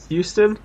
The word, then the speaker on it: Houston: was his name custom Houston yeah yeah so in youtube they call it from the US I don't know new it US way of pronouncing things they they have pronounced it Houston so essentially Charlie Houston